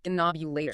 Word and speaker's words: Ghinknobulator: The historical pronunciation is Higgins Ghinknobulator.